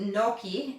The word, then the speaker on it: gnocchi: It starts with a G, G-N-O-C-I-H-I, gnocchi, but you pronounce it gnocchi.